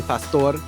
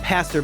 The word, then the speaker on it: Pastor: For anyone listening, you can find more information about Attorney Pastor. I said pastor before, but now that I know you're from Havana, Pastor. Said that perfectly. Spanish pronunciation.